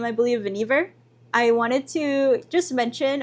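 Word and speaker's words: Vannevar: um like I was looking for something about Venivvar Bush that is actually how you pronounce his name I believe Venevver I wanted to just mention about like his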